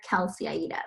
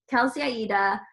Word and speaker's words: Kelsey Aida: can find me everywhere kelseyaida so that's my instagram my twitter it's k-e-l-s-e-y-a-i-d-a like the italian opera it's my middle name everyone thinks it's my